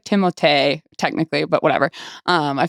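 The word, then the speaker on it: Timothée: to flame me but Timothy Shalomé. Is that right? I think I think you said it right. It's like Timote technically but whatever.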